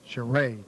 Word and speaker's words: Charay: Charay. That's how we pronounce his name, Donnie.